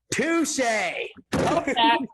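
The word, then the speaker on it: Touché: Touche. Touche. How do you know how to spell that?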